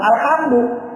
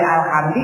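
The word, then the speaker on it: الحمدُ: ijm ulama kesepakatan ulama alhamdu enggak boleh alhamdi Enggak boleh alhamda tapi ada yang baca alhamda ada yang baca alhamdi Tapi tidak disepakati ulama begitu ya ya barangkali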